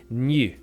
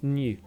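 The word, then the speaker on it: ν: pronounced for some reason new I don't know why but I actually did some Greek research and apparently yeah that that kind of sort of slanting V is pronounced new pretty cool anyway ragna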